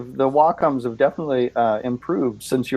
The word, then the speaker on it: Wacom: Yeah, according to Wikipedia, it's pronounced Wacom.